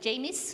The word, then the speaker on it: Jamis: So, I have put it into 3 categories, and James agreed with me that Jamis, not James, sorry.